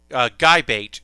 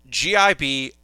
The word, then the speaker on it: Gibiate: So it's not GIBATE. It's GIBIATE. GIBIATE.